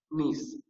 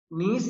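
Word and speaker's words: gneiss: क्ड now next है नीस है ना इसमें जी साइलेंट रहेगा नीस नीस इज फॉर्म फ्रॉम द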